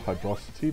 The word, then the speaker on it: Hydrocity: Some pronounce it Hydrocity, but that doesn't sound right to me.